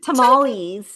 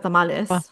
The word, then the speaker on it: tamales: So like when people say tamales instead of tamales, or Tamale.